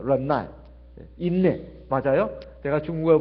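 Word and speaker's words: 忍耐: 중국어로는 런나이라고 합니다. 런나이.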